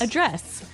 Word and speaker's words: address: So, the verb address has the the stress on the second syllable.